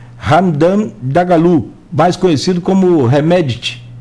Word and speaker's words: Hemedti: Dagalo, mais conhecido como Hemedti. Hemedti ficou mais fácil, que me lembra assim, Hemedti, a pronúncia mais próxima da correta, vamos dizer assim.